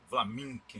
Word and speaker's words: Vlaminck: Às vezes eu falo Maurice Flamand, é Maurice de Flamand, Flaminck, né? O cara, ele, André Derain, se escreve Derain.